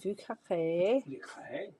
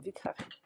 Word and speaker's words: Vieux Carré: That's how our friend who um is from New Orleans pronounces it, Vieux Carré. So, I'm going to actually say that that's correct. No, that's how you pronounce it.